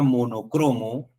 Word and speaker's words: monocromo: Pero la palabra monocromo solamente tiene una forma de pronunciación, que es una palabra grave.